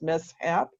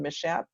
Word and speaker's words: mishap: You're going to know that it's mishap rather than mishap, and it's teacher.